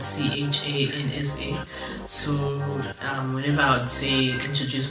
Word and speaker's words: Chansa: joke to people, because my name is Chansa, like it's spelled Chansa.